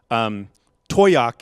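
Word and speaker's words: Towaoc: Break that Up but Toi YoK is Usually how? We tell People but Boy YoK means Thank you and you?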